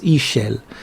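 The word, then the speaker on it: Ixchel: think it's somewhere here ishel yeah i looked up how you pronounce that it's e shell i don't know i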